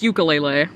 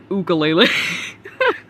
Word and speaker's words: ukulele: Oh, it's ukulele, not ukulele. You don't know.